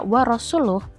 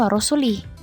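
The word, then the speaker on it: وَرَسُولُهُ: Pada saat baca wa rasuluh, beliau mendengar orang membacanya wa rasulih. Beliau terusik mendengar bacaan tersebut karena sangat merusak arti.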